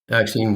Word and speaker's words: Axine: Axine Water.